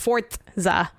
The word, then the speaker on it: Forza: We really, really want you to know it's pronounced Forza.